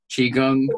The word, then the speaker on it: Qigong: So it's Qigong just the same as Kung, like Kung Fu, Qigong, Qigong.